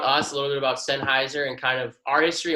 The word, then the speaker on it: Sennheiser: If I could real quick, I just have never even heard of Sennheiser. Is that how you say it, or Sennheiser? Yeah, Sennheiser. Yeah.